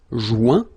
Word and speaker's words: joint: Final T not pronounced. Joint. So when you get this O-I-N combination of letters, you get the sound ouin.